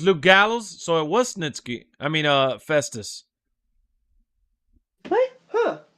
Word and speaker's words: Snitsky: actually I wanted to see um snit how pronounce his name Snitsky yeah okay he wants Snitsky all right fair